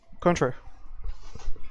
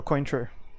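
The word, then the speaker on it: Cointreau: right would be uh contra or queen true depending on how you want to pronounce it so so far we've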